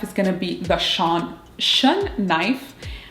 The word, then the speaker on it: Shun: Now my second knife is going to be the shun knife. I should say it correctly, shun.